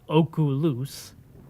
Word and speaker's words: oculus: So oculus, which is really supposed to be pronounced oculus, would actually be oculum, because reparo literally means I repair, right?